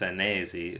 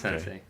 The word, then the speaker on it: Senesi: myself Sensei, but my last name is Senesi, which is an Italian last name. I think Mm. it's actually pronounced Senesi, is what sometimes Italians tell me that I'm butchering my own last name. So yeah, it's not Okay. Sensei.